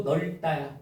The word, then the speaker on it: 넓다: 넙이 아니고 넓다야. 넓다.